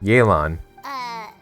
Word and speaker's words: Yelan: Yelan. So that's how you pronounce it.